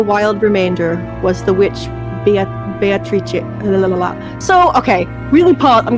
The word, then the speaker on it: Beatrice: I think it's Beatrice. Is I it think supposed it's the to be Italian? Yes, it's the Italian pronunciation. Because Okay, I'll do that too. In my head, when I was reading it, I did say Beatrice, but I'm pretty sure because Kinzo loves Western shit, it's Beatrice.